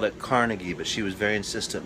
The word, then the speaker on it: Carnegie: Scottish and she was a descendant of the Carnegie's that's right we at the time called at Carnegie but she was very insistent no no it's